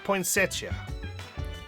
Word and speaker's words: poinsettia: my room here you go I'm sorry obtain poinsettia that's how you pronounce it you turn on the television see